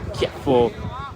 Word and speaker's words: Chieffo: il giocatore argentino Lucas Chieffo o Cieffo dipende un po' anche dalla pronuncia, dal dialetto argentino che si utilizza, noi utilizziamo Chieffo perché lui si può chiamare così e allora occhio a